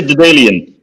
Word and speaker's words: Daedalean: We're now delighted to have Luuk van Dijk from Daedalean or Daedalean. Pronounce it how you like. Luuk, I say Daedalean, but yes, pleased to be here.